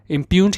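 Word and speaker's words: impugned: इम्प्यून्ड क्या होता है? ये हम ये जी है साइलेंट पढ़ते हैं, इसको हम पढ़ते नहीं है, इसको हम कैसे बोलेंगे? इम्प्यून्ड।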